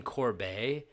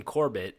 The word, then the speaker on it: Corbett: Boston Corb or his real name is I it's spelled C O R B T and I thought it was like French and they're like Boston Corbett.